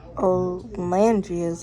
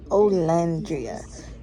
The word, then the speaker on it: Olandria: I also found out that Olandria's name is pronounced Olandria, not Olandria.